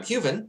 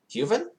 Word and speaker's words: Huven: Human and Huven are pronounced exactly alike, in fact, except for the V.